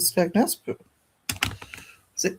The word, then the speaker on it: Skegness: him back saying said, "Did you mean to say Skagness? You said it on purpose." He says, "Well, that's what it's called, isn't it?" No. I thought everybody knew that Skagness was called Skagness, but There's an E in it.